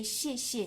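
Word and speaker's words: 谢谢: So uh both of the characters here are the same and the second one you really pronounce a little bit lighter than the first one. You don't have to say xiexie, you can say xie.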